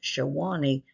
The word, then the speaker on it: Sewanee: Although it is pronounced Sewanee, I surmise the community got its name from the Shawnee Indian tribe.